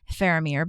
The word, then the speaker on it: Faramir: And I'm I'm pronouncing that Phamir, but it's spelled F A R A M I R.